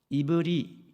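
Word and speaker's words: עברי: 이 히브리라는 말은 원래 발음으로는 이브리 이런 소리가 납니다.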